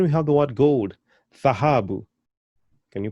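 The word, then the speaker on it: dhahabu: And then we have the word gold, thahabu. Can you pronounce that?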